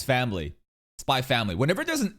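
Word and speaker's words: Spy × Family: Spy Family.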